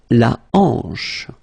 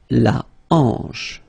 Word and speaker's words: hanche: La hanche. La hanche. Remember, H here is not pronounced, so you get the sound en, hanche at the beginning.